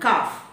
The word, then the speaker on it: calf: If L comes between A and F, again L is silent, as in half and calf.